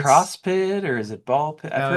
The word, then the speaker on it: Ball x Pit: I swore that you don't even pronounce the X.